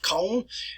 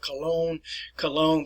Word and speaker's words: Köln: The proper pronunciation for this is Köln. It's present on the Rhine River. We have corrupted it. In English, we call it Cologne, but if you go to Germany, you'll never see Cologne.